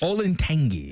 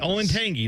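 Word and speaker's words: Olentangy: tangis like the wasach except it's the tangis olangi ol Tangi not olangi not the correct way to say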